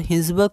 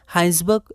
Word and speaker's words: Hinsberg: और प्रोनाउंसिएशन में पे आप ध्यान रखिएगा ना, कई बार हाइंसबर्ग को हम लोग हेजनबर्ग भी पढ़ सकते हैं, क्योंकि ये भी एक साइंटिस्ट का नाम है जो हमने 11th में एक बार देखा था अनसर्टेनिटी में, ठीक है। तो ये आप क्या क्या हाइंसबर्ग है ना, और हिंसबर्ग की जगह हम लोग इसे हाइंसबर्ग प्रोनाउंस करेंगे, ठीक है।